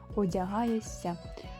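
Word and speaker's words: одягаєшся: с одягаєш себе одягаєся вимовляємо с а пишемо шся одягаєся навчає себе навчаєшся вимовляємо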